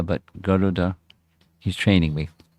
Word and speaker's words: Garuda: Then this discussion with Garuda, not Garuda, but Garuda. He's training me, pronounced properly.